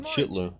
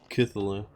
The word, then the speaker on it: Cthulhu: Cthulhu, Could have though. gone anywhere. Can't believe that's how it's pronounced. I've been saying Chitlu.